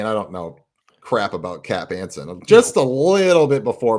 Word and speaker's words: Cap Anson: So it's just like Knapp or it's not Knapp, but it rhymes with Knapp. Oh, is it Cap? Yeah, Cap Anson. It is Cap Anson.